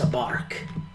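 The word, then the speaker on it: Abork: It's in the capital of Terrace, Abark. I'm sorry, can you say that again? Abark. A bark? Yes. Like a dog.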